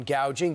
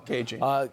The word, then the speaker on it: gouging: She also brought out cracking down on gouging. That didn't go over well. Caging. Because, that's how she pronounces it.